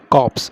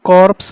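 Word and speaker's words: corpse: बोले या लाश बोले कॉप्स इसकी प्रोनंसिएशन क्या होगी कॉर्प्स नहीं बोलेंगे आर साइलेंट वे में होगा कॉप्स ओके कॉप्स मुल्ला वास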